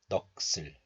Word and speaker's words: 넋을: So this letter is pronounced as 넋 in isolation, 넋. But this letter is followed by a vowel. So the hidden sound 시옷 moves to the next letter, and this 을 becomes 슬. So this is pronounced as 넋을, 넋을.